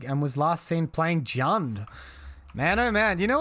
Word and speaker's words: Jund: was last seen playing jund man oh man you know what's a good match into jund it's it's definitely rhymes with earn um and i may